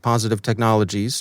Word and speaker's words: Positive Technologies: it look russian but it's not it's simply pronounced positive technologies transliterated into cyrillic and then transliterated back into the roman alphabet ibm warns that the